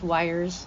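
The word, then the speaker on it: Wyers: His last name's Wires. I'm sure you can figure that part out. Wires is spelled W-Y-E-R-S.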